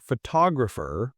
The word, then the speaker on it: photographer: Think about the word photograph. we stress the first syllable photograph. But for photographer, we stress the second photographer.